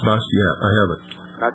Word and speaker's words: Bastiat: The last name is Bastiat. Bastiat, yes. It's pronounced Bastiat.